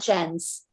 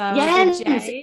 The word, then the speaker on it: Jens: Yes, you're saying my name right, Natelia, and then Natelia and Jens. So Jens. I have to do a Y.